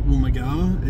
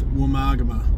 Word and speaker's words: Woomargama: Of course, the navigator can't pronounce it. It's not Woomargama, it's Woomargama.